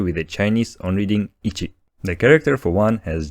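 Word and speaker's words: いち: example the character for one has on reading Ichi repeat after me Ichi when you see it without hiragana on the end you should read the character with the Chinese on reading Ichi the character for one has Japanese Kun leading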